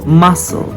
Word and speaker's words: muscle: next is the letter C so the letter C is often silent after the letter s for example muscle scissors neck fascinate scene but